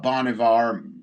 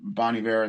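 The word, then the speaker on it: Bon Iver: And it's a very, you know, definitely uh more folky, more, you know, kind of reminds me of uh uh Bonivar, Boniver, that's how you pronounce it.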